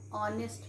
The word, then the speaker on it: honest: him and however we say ha hour it is silent here then children the girl he is an honest man we never say he is an honest